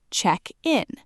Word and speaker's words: check-in: The stress shifts to the front, check in.